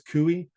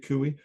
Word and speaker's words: CUI: Now, some people pronounce this kooey. I'm I'm a fan of Kuey. just I won't use it during this presentation but I'm not against pronouncing it kooi.